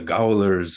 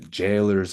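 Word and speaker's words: gaolers: a o l RS it's like a Jailer the jailers of Fate that makes more sense but it's spelled golers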